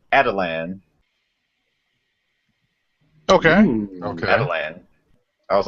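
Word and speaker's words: Attilan: and it's as far as the animated show pronounced it it's not it's not a tillin it's adelan okay I was like huh so adelan Rising so there's a big Exposition dump from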